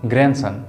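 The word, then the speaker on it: grandson: और इन दोनों का अंग्रेजी होता है ग्रैंड, डी यहाँ पर साइलेंट है, ग्रैंड, ग्रै पर थोड़ा जोड़ देना है, तो क्या होगा, ग्रैंडसन, ठीक है, ग्रैंडसन।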